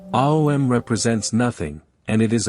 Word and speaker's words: om: others for the soul om is three sounds or vowels a u and m how to pronounce um end with an m like humming sound that tapers off peacefully not suddenly this chant is to